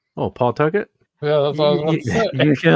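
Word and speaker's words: Pawtucket: by somebody outside of Rh Island because they pronounce it pcket and it's not pcket it's Pucket p p apostrophe tuet there's a place in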